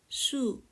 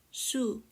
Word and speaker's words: 수: word m water the H for water is su su knowing H is like knowing the root of